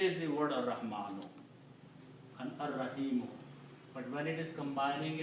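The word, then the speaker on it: الرحيم: Similarly, when you put al, it becomes al-Rahimu. But again, the same thing will happen. You pronounce ar-Rahimu.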